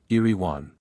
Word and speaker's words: Erewhon: to the first edition the author wishes it to be understood that eruan is pronounced as a word of three syllables all short thus Iran how do you find